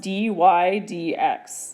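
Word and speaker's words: dy/dx: So we actually, if you say this out, this is just pronounced dy dx. That's how we say it.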